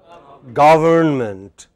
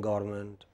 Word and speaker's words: government: Government. But many people take this away. They say government. Government. Manmohan Singh government. Jayalalitha government. It is not government. What is it? Government. Government. Main stress on ga.